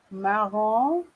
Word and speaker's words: marron: Marron, marron. Paris? Marron, marron. Très bien. This one is not easy, okay? You have the sound on and on. Marron, marron, okay? So you have to be very careful.